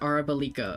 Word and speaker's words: Arabalika: Oh, that's how you pronounce it. Arabalika.